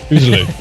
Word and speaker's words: Uzalu: Did I say it right this time? Uzalu? Close enough. Uzalu. Yeah, Uzalu.